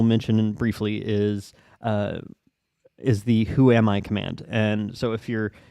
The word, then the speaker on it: whoami: separate arguments, but we use it all as one, which is pronounced whoami because it's all jammed together.